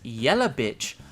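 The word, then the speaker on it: Jelavić: __ ] sensei because in japan they would pronounce her last name as yellowbitch because of the way japanese speakers natively say the letter v i simply love this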